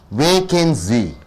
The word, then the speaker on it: vacancy: Vacancy. You pronounce as vacancy. 3 syllable. First syllable you are stressing is being a noun.